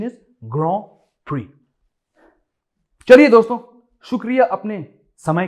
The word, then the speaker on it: Grand Prix: The correct pronunciation is ग्रां प्री।